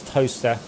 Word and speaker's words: Towcester: Or Towcester is toaster.